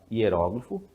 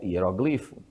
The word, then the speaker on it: hieróglifo: hieróglifo tá palavra hieróglifo é uma palavra também que admite dupla pronúncia nesse caso você tanto pode falar hieróglifo como hieroglifo né os professores de